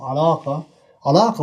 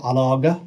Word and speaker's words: علاقة: this word, for example, alaqa, we pronounce the qaf. We don't say alaga, or we don't say ala'a.